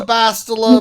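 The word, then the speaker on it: Bastila: I didn't know that until it's called the Bastilla. Please pronounce it right.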